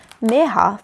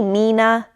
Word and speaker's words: Mirha: They stretched out the I until it sounded like an eh. And their sounded wrong. Some people even forgot the h.